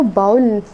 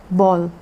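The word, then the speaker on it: bowl: तो बाउल नहीं कहना है, इसको कैसे प्रोनाउंस करना है? बॉल, बॉल।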